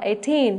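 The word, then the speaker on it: eighteen: Thì 18 thì mình nhớ là 18, và nhớ trọng âm rơi vào chữ teen, đúng không ạ?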